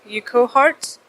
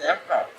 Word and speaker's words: Urquhart: How do you pronounce Urquhart Castle? The castle that is near Loch Ness? Urquhart? I mean, it's my accent, please. Wait, which one? Urquhart Castle. There's Urquhart.